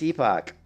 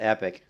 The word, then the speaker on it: epoch: Yeah, it's epoch. It's not epic. CPO. It's how it's pronounced. It's not pronounced epic. It's pronounced epoch.